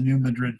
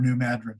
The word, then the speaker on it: New Madrid: in indiana in the new madrid fault or new madrid fault i've heard it pronounced both ways maybe maybe not uh